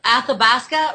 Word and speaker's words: Athabasca: Fort McKay First Nation reserve on the a Athabasca River correct Al pronunciation than you Alberta for people that don't